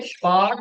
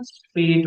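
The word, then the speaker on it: spät: ए बन गया ना, तो फिर ये स्पार्ट पे। नहीं होगा, स्पेट होगा। इन सभी का ए भी सब पढ़ेंगे आप, ए ही है ये तो, प्रोनाउंसिएशन इसकी तो ए ही आ रही है। जो क्योंकि umlaut है ना, अगर umlaut ना हो तो फिर आ चीज, फिर ये स्पार्ट होगा।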